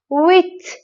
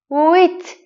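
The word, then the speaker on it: huit: تلفظ تلفظ تلفظ نمیشه عدد ویت ویت اینجا اش و او صدای و میده این دو تا حرف کنار هم صدای و ویت ویت به لب و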